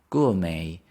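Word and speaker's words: gourmet: is worth its price gou May the stress is on the first one gou may G we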